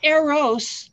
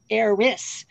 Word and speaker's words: Eris: Not Eros, the love god, Eris.